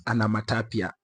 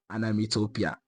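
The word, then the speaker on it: onomatopoeia: our last class where I pronounced a word as anamatapia when the word is actually supposed to be pronounced as anamitopia.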